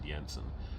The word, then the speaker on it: Jensen: It's, in Europe they pronounce it Jensen, but in North America it's Jensen. So that was the last time our last name was changed.